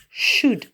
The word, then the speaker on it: should: exprimée avec le modèle should dont vous faites bien attention on ne prononce pas le elles chutent chutent et comme